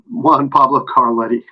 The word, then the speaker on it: Juan Pablo Carletti: Anyway, it's a trio with Brandon Lopez and Juan Pabletti. Yeah, sure, yeah. Oh God, William always says his name wrong, and now he made me mess up. Juan Pablo Carletti.